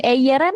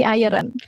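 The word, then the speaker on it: eieren: Nah, ini kan telur ya, dia kalau bentuk jamaknya jadinya aeren gitu. Aeren bacanya bukan eeren bukan tapi iron.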